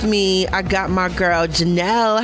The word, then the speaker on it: Janielle: So it's pronounced, it's basically Janielle, like Danielle, but with a J.